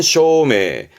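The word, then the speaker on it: 照明: 발음은 쇼메. 음은 다 쇼예요.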